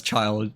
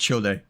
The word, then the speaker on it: Childe: so let me know I'm not gonna pronounce him as child because you know um he has an e next to child so it's pronounced childe like yeah like oh